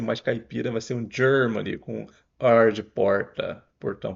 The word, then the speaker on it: Germany: é só o J não é só o g que a gente tá acostumado em português acrescenta um D aqui na pronúncia G Germany aqui e